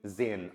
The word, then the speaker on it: sehen: एस का sound जय, क्यों? एस के बाद वोवल आ रहा है। ई का ए, एस साइलेंट रहेगा, और ई एन का क्या बन गया? अन, तो क्या बोलेंगे? जेन।